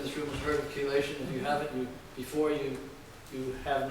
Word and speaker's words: chelation: And chelation means metal binding. And it's spelled C-H-E. It's a hard C-H-E, like chemistry.